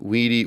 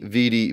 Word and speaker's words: vidi: Now, whether you pronounce it wane, weedy, weaky, or vini, vidi, vici, it's translated as I came, I saw, I conquered.